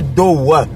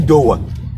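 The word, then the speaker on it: două: Et au féminin, ça se dit do. Ça s'écrit do. Mais quand on prononce, on ne dit pas dowa. Bon, si tu veux vraiment accentuer, tu dis dowa. C'est correct, c'est même plus correct que do.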